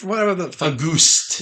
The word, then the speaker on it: Auguste: It's whatever the fuck Auguste. you would pronounce it in French.